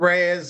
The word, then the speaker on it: Reyes: Next up, Richard Rise. How do you say your last name? Hey, I'm Richard Reyes.